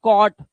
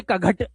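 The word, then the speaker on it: caught: और ये जीएसटी को पढ़ दिया सिर्फ टा कॉट अब इसे कघट या घट मत पढ़ना इसलिए कॉज डो और जी एस टी को क्या बनाएंगे?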